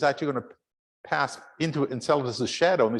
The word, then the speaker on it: Enceladus: And then little tiny Enceladus, or enchiladas, as one of my students once pronounced it. It's Enceladus.